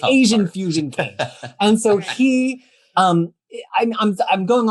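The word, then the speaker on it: Qayin: And then ultimately this guy, Kane, although it's spelled Quayin, but it's pronounced the Kane.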